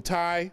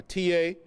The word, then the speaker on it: Tiye: This is Queen Tai, or Tia. Some people pronounce it Queen Tiye, T-I-Y-E.